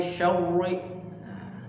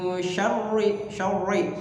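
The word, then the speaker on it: شَرِّ: Jangan dibaca min syarri. Tebal nih. Min kebanyakan ya kita temukan itu seperti itu bacanya. Min syarri ri. Padahal rohnya tipis, artik. Jadi ri bukan ori tapi ri ya.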